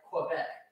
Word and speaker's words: Quebec: In French, you pronounce the U, but in English, it said like Quebec.